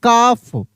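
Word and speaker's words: calf: इसे हाफ अगर लिखा रहता है सी ए एल एफ तो इसको पढ़ते हैं काफ। काफ यहां पर भी एल साइलेंट रहता है।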